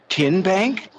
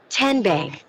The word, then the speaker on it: TN Bank: TN Bank? No. Tin Bank? So what is it? 10 Bank. 10, as in Tennessee.